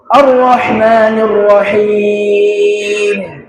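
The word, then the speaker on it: الرَّحْمَٰنِ الرَّحِيمِ: Arrahmanirrahim. Arrahmanirrahim. Arrahmanirrahim. Arrahmanirrahim. Arrahmanirrahim. Bukan yang betul. Arrahmanirrahim. Arrahman. Ingat lagi huruf H-nya tadi ya. Huruf H-nya itu harus betul pengucapannya ya.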